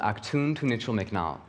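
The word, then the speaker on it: Actun Tunichil Muknal: the caverns my mom can never remember or pronounce the name of the cave but it's called Ock tuned to Mitchell McNall which means the Cave of the crystals of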